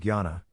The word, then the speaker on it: Jnana: Jnana, pronounced Jnana, Mudra gives stability, balances the 5 vital elements of the body.